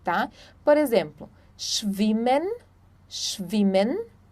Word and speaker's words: schwimmen: Quando nós temos um S antes do CH, nós pronunciamos, então, o som do X, tá? Por exemplo, schwimmen, schwimmen, schon, schon, Schweiz, Schweiz.